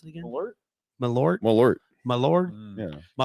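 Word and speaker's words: Malört: had a shot of um how do you pronounce it again alert malort malort my Lord yeah my Lord this is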